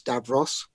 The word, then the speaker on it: Davros: meant to do Davros, that's Davros, spelt with a V, Davros.